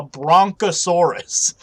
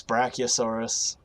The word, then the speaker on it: brachiosaurus: bronchosaurus and i'm like what the hell is a bronchosaurus and they said it probably at least a dozen times and i'm like it's brachiosaurus it's brachiosaurus even if you want